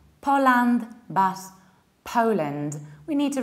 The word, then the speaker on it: Poland: Poland, Poland. Not so broad, a little bit more close.